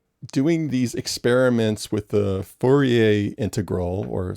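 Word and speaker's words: Fourier: these experiments with the forier integral or sometimes I hear people pronounce it furer but since I'm from New Orleans and you're from Canada I think we better go with forier but yeah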